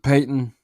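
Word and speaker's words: Paton: I guess that's how you're going to say his name. Pronounce it Peyton.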